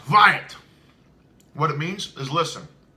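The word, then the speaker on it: Hwæt: first line right there that first word is pronounced riot what it means is listen so I was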